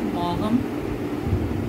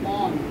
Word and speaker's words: Maugham: Somerset Maugham, which is pronounced as Mom. We do not say Maugham, we will have to pronounce it as Mom.